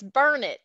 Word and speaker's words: Burnet: That's one of those funny Texas pronunciations. We always like to say it's Burnet, darn it, learn it.